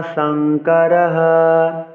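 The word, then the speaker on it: सङ्करः: অন্তিম অংশ যাইয়াতে বর্ণ সংকারাহা সংকর বলা যাবে না সংকারা বলতে হবে বলছি যা ইয়াতে বর্ণ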